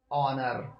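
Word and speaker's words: honour: पहला रूल है कि जब किसी स्पेलिंग में एच किसी Wavell A ई आई ओ यू के पहले आए तो वहां एच का प्रोनंसिएशन नहीं किया जाता है दोस्तों अभी आपने ये पढ़ा कि स्पेलिंग में एच किसी Wavell A ई आई ओ यू के पहले आए तो वहां एस का प्रोनंसिएशन नहीं किया जाता है जैसे ऑनर जैसे ऑनर ऑनर में एच देखिए आ रहा है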